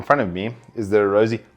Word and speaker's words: Arozzi: of me is there a rosie okay that's actually how you say it with a bit of a italian flair you got to do